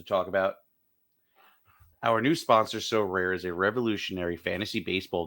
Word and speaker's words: Sorare: Our new sponsor, So Rare, is a revolutionary fantasy baseball game and marketplace